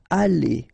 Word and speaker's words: allez: Then, vous allez. Remember, a Z at the end here will give you this A sound.